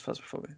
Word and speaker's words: Phasmophobia: No, it rhymes with phasmophobia. Well, actually, it's phasmophobia.